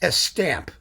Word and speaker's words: Estampes: It's spelled Estampes, Estampes, but like everything in French, you just don't pronounce half of the vowels.